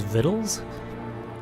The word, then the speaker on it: victuals: be careful they're hot did he just pronounce victuals as viddles is that normal I